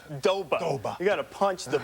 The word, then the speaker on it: Doba: Well, of he course, just likes to say like it's 2 syllables. Doba.